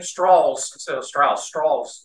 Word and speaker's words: Strauss: from the south and he pronounced his name straws instead of stra straws